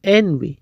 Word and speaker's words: envy: اکثره خلک دغه لغات چې envy دا رقم تلفظ وي ny تلفظ یې غلط دی. اصلي تلفظ دا رقم envy.